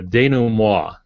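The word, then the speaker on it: dénouement: the danum Moa uh so it's not pronounced as it's spelled because it's again French but it's that period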